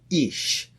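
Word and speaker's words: איש: the word for man in Hebrew is called ish it's spelled with an aleph yod and shin all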